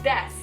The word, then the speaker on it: desu: Like no one says desu. The u is silent. Yeah. It's death. Death.